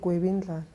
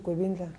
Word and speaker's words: Gwebindlala: Gwebindlala. Okay. Gwebindlala. Gwebindlala. Gwebindlala. Yeah. Okay. L-A. Yeah. So that's Gwebindlala.